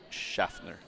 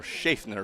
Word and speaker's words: Schaffner: Ang pumasok naman po ay si Zachary Ford, Ken Pride, and Christian Schaffner. Or Schaffner, rather. As we did get to clarify the pronunciation after checking with several sources, and they sent this ball in.